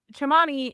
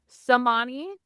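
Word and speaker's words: Cemani: I mean, chamani is technically the way that you would pronounce it in Indonesia. That's how they would pronounce the c as a ch.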